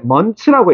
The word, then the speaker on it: months: 발음 알려 줄게. 먼츠라고 읽어. 먼츠. 요렇게 읽으면 편하다.